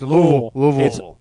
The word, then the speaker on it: Louisville: Um, It's like watching Ad Rock play a show in Louisville, right. and he says Louisville. Louisville! Hello, Louisville! Louisville. What are you talking about? It's Louisville.